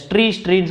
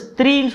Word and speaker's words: ஸ்த்ரீ: அப்புறம் ஸ்த்ரீ, ஸோ ஒரு கமெண்ட் ஒருத்தர் போட்டிருந்தாரு, நீங்கள் ஸ்ட்ரீன்னு சொல்கிறீங்க, ஆக்சுவலாக அது ப்ரொனவுன்ஸ் வந்து ஸ்த்ரீன்னு சொல்லணும் அப்படின்னு சொல்லிட்டு.